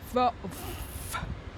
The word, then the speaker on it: Volvo: Maybe Uber Uber Oh Volvo oh yes อ ั น น ี ้ Volvo see we don't have a V sound then Volvo oh, I think we